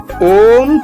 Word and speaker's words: ওম: যা ব্রহ্মান্ডকে পরিব্যাপ্ত করে এর সঠিক উচ্চারণ হলো মুখ খোলা রেখে আ ধ্বনি ঠোঁট সংকুচিত করে ও ধ্বনি এবং ঠোঁট ফিরিয়ে এনে মা ধ্বনি উচ্চারণ করা ওম শুভ কাজের আহনের জন্য